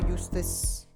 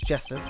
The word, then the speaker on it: Justice: Apollo Eustace. It's justice.